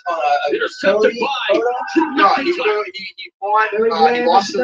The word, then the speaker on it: McIntyre: But they did see something with him and Oh, it's pronounced McIntyre.